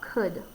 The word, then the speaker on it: could: o u could okay could actually also has a silent l in it so a silent l could if you're saying it out loud you're not going to hear that ever it just doesn't come out so that's something